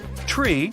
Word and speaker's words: tree: some Mega secret code it's the way Pilots pronounce certain numbers in their pilot English tree stands for three five for five and ner is used instead of nine such pronunciation helps to avoid radio miscommunications and the confusion caused by similar sounding numbers uh we're just finishing